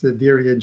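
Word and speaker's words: Diriangén: Yeah, I'm going to start with the proper pronunciation of them first. It's Dirigen and Juventus Managua.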